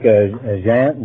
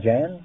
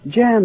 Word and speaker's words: Jan: Jean. John. How do you pronounce that? Jan. Jan. That's right. That's my name.